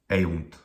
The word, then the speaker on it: eunt: Well, the first syllable is e, and it's a short vowel. It doesn't end in a consonant. That syllable is short. The second syllable, oh, short vowel, but 2 consonants at the end, definitely a long syllable. It takes more time to utter that syllable. Therefore, it is long.